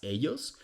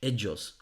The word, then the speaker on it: ellos: I don't understand why English speakers always pronounce words like ellos as ellos. Just say it with the G in judge, ellos.